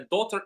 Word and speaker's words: daughter: For example, the gh is not pronounced right?